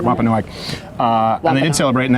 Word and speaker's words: Wampanoag: meal of Thanksgiving with the I think it's pronounced Wampanoag. Is that? Do you know? I want to make sure I'm getting that right. Wampanoag.